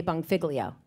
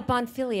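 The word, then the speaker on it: Bonfiglio: say it right now cuz I'm going to say bong figlio and that's wrong the fact that you still can't pronounce it is really frightening it doesn't have bong in it it's bong bong bong filio no bong figlio Bon bonfilio oh bonfilio like feel your leg fio Bono Rob bonfilio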